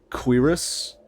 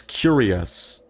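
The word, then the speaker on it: cuirass: out like yesterday that I'd been reading cerus is that how it's pronounced C cus C UI r a SS like for like an armor chest plate as curious I I've been doing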